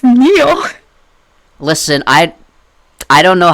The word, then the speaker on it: Neil: Nile? It's Neil.